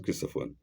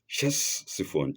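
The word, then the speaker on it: Ctesiphon: No, not Christophon. One of which were Chessifon Chesifon and Seu and Seucia on opposite banks of river Tigris.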